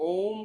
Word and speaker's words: ओम: आइए हम सब लोग ओम का उच्चारण करते हैं जो कि तीन अक्षरों से मिलकर बना है अ उ और म जितनी गहराई से हम